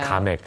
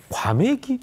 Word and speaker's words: 가맥: 그래서 가맥. 잘 모르시는 분들은 과맥이 이렇게 좀 헷갈리는 분들도 있을 것 같아요. 발음상. 여기는 이제 가게 맥주의 준말입니다.